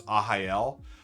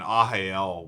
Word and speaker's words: Arraial: The third one I'd recommend is Ahael.